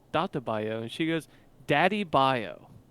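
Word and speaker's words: Dattebayo: And I say it's Data Bio, and she goes, Daddy Bio. Daddy Bio.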